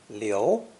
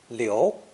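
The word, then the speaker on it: 流: and fluid to flow this character is pronounced second tone leo leo and means to flow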